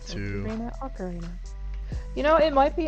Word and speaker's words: ocarina: was at let's see like macarena but yeah without the m ocarina ocarina yeah i